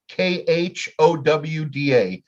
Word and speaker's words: Gouda: My 36-month-old aged Gouda. You pronounce it Gouda? The Dutch would pronounce it like Khowda. Gouda.